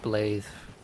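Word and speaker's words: Blaidd: His name is spelled blade and name is pronounced blathe.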